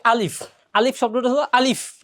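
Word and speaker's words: ألف: অনেকে এখানে ফর জায়গায় প পড়ে, এখানে আলিফ লাস্টে ফ, আলিফ, আলিফের ফ হবে, অনেকে প পড়ে। প বললে এটা ভুল হবে, ফ, আলিফ শব্দটা হবে আলিফ।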